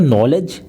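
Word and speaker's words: knowledge: मुख से निकलता है नॉलेज और लिखा इसमें जाता है के एन ओ डब्लू एल ई डी जी ए नॉलेज इसमें के जो होता साइलेंट रहता है जबकि जो अपनी रोमन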